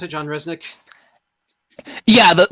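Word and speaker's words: Rzeznik: smoother voice than John Resnik but yeah it is very goo doll's right that's how you pronounce it John Resnik yeah the the first Z is silent okay good because when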